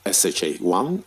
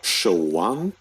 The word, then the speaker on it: SHA-1: You might hear people call it SHA-1 or SHO-1.